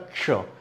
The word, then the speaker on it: क्ष: तो ये कश वाला उच्चारण अब मेरे हिसाब से विलुप्त होता जा रहा है और कश का उच्चारण नहीं होता है, और इसीलिए ये सारी दुविधा है, इसीलिए ये परेशानी है अक्ष के साथ। ठीक है, अब ये अक्ष नहीं होता है, क्या होता है, क्ष, क्ष।